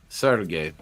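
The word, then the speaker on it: Sergei: Sergey or Sergey? Sergey, isn't how you pronounce it? Yeah, Sergey. Yeah, Sergey. Sergey, the Russian way.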